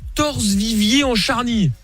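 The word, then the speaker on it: Torcé-Viviers-en-Charnie: Denise qui appelle de Torse-Vivier en Charny. Ça a l'air sympa aussi ça. C'est ça, j'ai bien prononcé?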